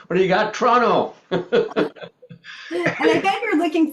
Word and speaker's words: Toronto: I'm located in Toronto, or as us locals say it, Toronto. And you can always tell someone who's born in the city because they'll say Toronto instead of Toronto. So you get rid of that first O, just like who needs that?